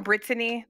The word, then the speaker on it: Brittany: Emphasis on Brittany, three syllables.